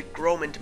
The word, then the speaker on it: Groment: For some reason, in the last episode, I was calling the city Gormand City, even though the R is clearly before the O. So, yeah, my pronunciation sucked there.